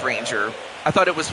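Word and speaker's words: Ranger Suárez: Okay, so it is pronounced Ranger. I thought it was Ranel.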